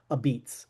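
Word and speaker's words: apizza: make New Haven style a beats. Uh right, that's how they say it in in New Haven.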